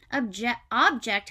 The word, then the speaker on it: object: Object has also two parts of speech, two pronunciations.